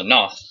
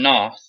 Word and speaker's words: Knoth: The prominent antagonist in Outlast 2 is gonna be a guy named Sullivan Knoth? Knuth? I believe the K is silent. So Knoth. Sullivan Knoth.